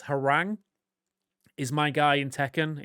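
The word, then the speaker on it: Hwoarang: Like I'm always and I always mispronounce it. It's Harang is my guy in Tekken.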